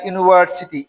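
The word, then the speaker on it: university: যেমন হি studied at dash ইউনিভার্সিটি, ইউনিভার্সিটি, ইউনিভার্সিটির উচ্চারণ ইউ, ইউ এর মতো হচ্ছে, তাহলে এ ইউনিভার্সিটি।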